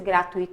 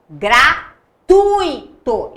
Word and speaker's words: gratuito: Como que eu pronuncio essa palavra? Fortuito ou fortuito? Gratuito ou gratuito? Gente, se fosse gratuito, teria acento. Fortuito também. Então, deixa quieto. Coloca aí, fortuito. Legal? Aquático. Facinho. Vou nem pedir para pensar. Gratuito e não gratuito, pelo amor de Deus.